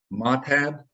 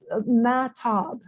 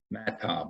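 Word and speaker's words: Mahtab: And it's Matab? She pronounces it Matop. Matop, okay. And I got the rest of them.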